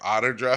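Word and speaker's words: Outer Drive: You say outer. They all say otter there. Otter drive.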